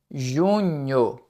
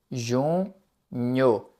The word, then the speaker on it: junho: Junho. Ju nho. Esse NH é um pouco difícil de pronunciar.